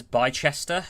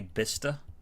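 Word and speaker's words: Bicester: Um so I used to read this as by Chester. Well, there's no H, so I shouldn't read it as by Chester. It's actually bista English language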